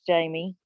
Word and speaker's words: Jaime: It's spelled like Jaime, but it's Jamie.